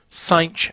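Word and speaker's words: sinh: ok here's the definition for the hyperbolic sine sine X is how we pronounce it and this is 8 the X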